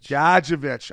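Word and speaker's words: Gadjovich: Gadjevich.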